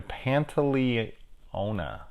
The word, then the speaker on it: Pantoliano: we've got Joe Pantoliano a better pan to Leona yes that's how you say his name which I will always